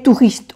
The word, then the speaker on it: touristes: Ils ont, les touristes ont.